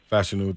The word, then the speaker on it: Fashanu: Fashanu, thank you.